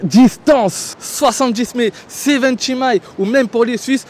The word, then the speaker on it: 70mai: dire c'est V mai c'est la marque elle-même qui m'a dit comment le prononce respectez-les on dit 7 mai aujourd'hui j'ai donc l'honneur